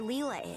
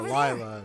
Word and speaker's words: Lila: We've climbed all this way, but there's still no sign of where Leela is. I called her Lyla because I didn't pronounce her as Leela in here.